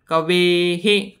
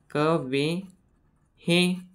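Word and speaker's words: कवेः: व अधिक एडक्याचा आलाय मग ए चा आणि व्यंजन याचा उच्चारण ह सारखा करतात मग इथे शेवटी ए आलाय म्हणून विसर्गाचं उच्चारण आपण हे असं करणार ए हे कवे हे कवे हे असं त्यानंतर परत इथं मात्र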